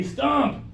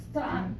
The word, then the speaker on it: stomp: well see give it a try give me stomp stomp yeah do you hear the pressure and also